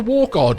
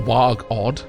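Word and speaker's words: Wargod: It is the war god wooden shield, not war god, or warg odd, as I pronounced it the first time.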